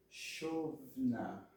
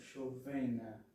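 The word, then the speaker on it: שׁוֹבְנָה: O som da palavra, o som forte da palavra, indica que está aqui, na primeira sílaba. Ok? Então, chovna e não chovena, ok?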